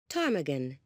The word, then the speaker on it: ptarmigan: Ptarmigan.